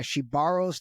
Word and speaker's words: Shebaro: And he said, yeah, she borrows the money and she never gives it back.